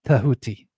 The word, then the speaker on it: Tahuti: words, the same like Thoth is not Thoth, but Tahuti, right? Each consonant gets its own vowel.